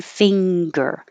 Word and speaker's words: finger: and make a singer but 37 you do want the ga so it should be finger so fing pull it down and make the g finger own this is a